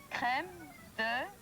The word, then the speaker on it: Crème de: It should be creme de, D-E vanilla. Check with your experts. Crème de, in French it's wrong. Crème de vanilla soda.